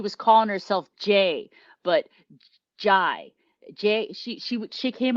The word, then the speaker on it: Jay: said oh my name's it's spelled j-a-y but it's pronounced jai as in bb-gi you know and